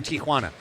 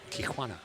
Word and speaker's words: Tijuana: PSA to all you folks out there, it's Tijuana. Tijuana. Yeah, Tijuana. Tijuana is what many Americans say. It is not technically correct. That'd be an Americanized version of the great city of Tijuana.